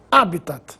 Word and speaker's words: habitat: assim como habias Corpus habitat é uma palavra Latina por isso não recebe acento gráfico mas se pronuncia como se fosse proparoxitona habitat ibero ibero é assim